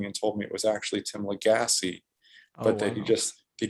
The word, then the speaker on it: Lagasse: and you didn't so uh everyone calls him tim legass but apparently his name is actually pronounced tim legassi yeah i i re i read it that